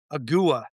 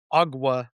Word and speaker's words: Ogua: The next one is one of our favorites from the new book, and he's it's Agua or Agua, depending on how you've heard it pronounced.